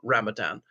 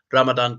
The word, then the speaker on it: Ramadan: So that is Ramadan.